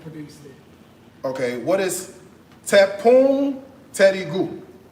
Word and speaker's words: tepung terigu: Okay, what is tepung terigu? It's flour, Like all-purpose flour? like all purpose. Okay. Tepung terigu.